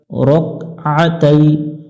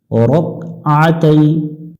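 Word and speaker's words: ركعتي: হবে তালা লিল্লাহি তাআলা রকতাই এখানে অনেকজনে ভুল করে থাকি আমরা রাকাতাই পড়ি রাকা এখানে কিন্তু কাফের উপরে জবর নাই আমরা জবর উচ্চারণ করলে অর্থের পরিবর্তন চলে আসবে রক আতাই রকআ এখানে বলা যাব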